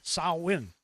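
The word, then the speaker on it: Samhain: came originally from the ancient Celtic festival of Sawwin. It's spelled Sam Hayne, but everybody pronounces it incorrectly. It's s i n sawin.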